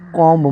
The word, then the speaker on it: comb: जैसे इसका एग्जाम्पल्स ले लो, तो जैसे COMB, यहाँ पर वर्ड के एंड में इसमें बी है और इससे पहले एम के बाद बी है, तो यहाँ पर कॉम्ब मतलब यहाँ पे बी साइलेंट होगा, तो यहाँ पे कुम पढ़ाएगा।